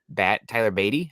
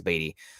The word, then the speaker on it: Beatty: And I think that Missouri's Tyler Beatty, I believe is how it's pronounced, either Beatty or Batty. Batty'd be cooler, but I think it's Beatty, would be a similar player that you can probably get for around less cost.